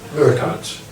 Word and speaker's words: Urquhart: admirer, or a lover, called Francis, I never pronounced this name correct, Urquhart? Urquhart.